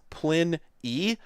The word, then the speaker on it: Pliny: Apparently it's Pliny. Well, at least... okay, I'll give it that, because I bet if I go over to the wiki page... even assuming it's correct with that pronunciation. But let me go to the wiki page. Yeah, so... I don't know if this is correct, but at least it says Plin E, whereas the wiki page